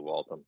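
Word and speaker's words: Waltham: I've I've heard the I've heard the city pronounced before it's definitely walon so they're gonna they're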